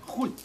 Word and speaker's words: 混: 你看看，那个字啊，念混，混，混，混水摸鱼的混。